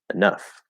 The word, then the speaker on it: enough: way like enough but it's usually pronounced enough that e is usually reduced to uh or maybe a and it's super small maybe you never noticed that